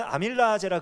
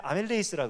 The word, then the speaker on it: 아밀레이스: 이 침에 있는 옛날에는 아밀라제라 그랬는데 요즘에 아밀레이스라 그러더라고요. 발음을 이렇게 조금 더 이렇게 그 네이티브하게 하더라고요.